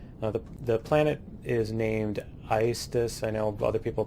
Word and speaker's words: Aestus: Now the planet is named Aestus, I know other people pronounce it differently. It's a Latin word that means fire, heat, and so on. That's how it's pronounced in Latin, so I'm a dork and pronounce it that way.